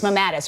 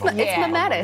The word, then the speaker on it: mammatus: It's mammatus, right? It's mammatus, yeah.